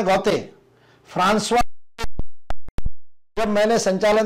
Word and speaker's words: Gautier: उच्चारण है Francois Francois, और GAUTIER उसको जिसको गॉटेर गॉटेर में पढ़ता था, और जागरण गॉटेर छापता भी है आज भी उनके लेख में, उसका फ्रेंच उच्चारण है गॉते फ्रांसवा।